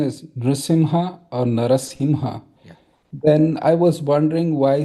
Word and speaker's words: Narasimha: The one question I had was that you said the correct pronunciation is nasimha or narasimha.